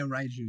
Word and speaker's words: Raiju: And correct me if I'm wrong, is it pronounced Raiju? Yeah, Raiju, yep.